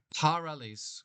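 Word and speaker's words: παρ' ἀλλῆς: alles And these two alphas they don't like each other so one of them's going to lose out, get replaced with a apostrophe and pronounce this all one word. parales gais erketai That is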